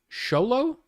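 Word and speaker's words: Xolo: apparently his name is the way you say his name is sholo x-o-l-o anyway I like him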